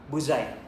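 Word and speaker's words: Buzi: Am I right? On on pronouncing it Buzai or Buzzi? Buzai. So probably bu yeah Buzai.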